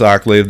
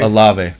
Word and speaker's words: Olave: Chris Oh, Ocklave? Olave. Olave. Is it Olave? Olave. Okay, Yeah. no, I just said wasn't it wrong. sure. I said it wrong. It's Olave I thought I had it wrong.